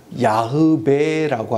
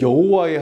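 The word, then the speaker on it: 야웨: 야베라고 합니다. 야베 하나님. 그래서 야. 그리고 어 영미권에서 공부를 하신 분들은 야의 하나님 이렇게 합니다. 그러면 여호와의 하나님은 무엇이냐? 이렇게 궁금하시죠? 네. 어, 그 당시에 예전에 여호와의 하나님이라고 발음을 잘못하기 시작했는데 그게 굳어져서 또 바꿀 수 없지 않습니까?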